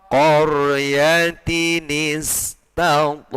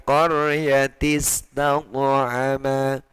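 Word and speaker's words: قَرْيَةٍ اسْتَطْعَمَا: Qaryatin istata'ama. Ya, bacanya begitu, bukan qaryatis taqama, itu, ya.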